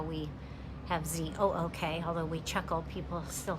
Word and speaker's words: Zook: that's how we have Z-O-O-K, although we chuckle, people still can't pronounce it. Ken will say it rhymes with look, book, everything, but they mostly settled in eastern PA.